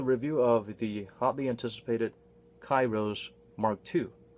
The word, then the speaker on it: k8iros: of the hotly anticipated Cairo's mark - it's spelled with an 8 in the middle but you're not supposed to spell it like a Kate I rose it's just Spencer dim-witted